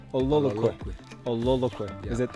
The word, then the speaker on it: Ololokwe: And how do you pronounce this? Ololokwe? Ololokwe. Ololokwe.